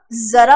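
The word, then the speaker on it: ज़रा: तो उसी प्रकार से जरा ना होके क्या होगा? जरा होगा, ठीक ना।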